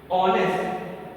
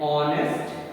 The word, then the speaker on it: honest: So we have to write he is an honest man because first word that we sound is O.